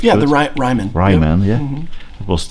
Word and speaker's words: Ryman: I hope it's pronounced. Yeah, the Ryman. Ryman, yep.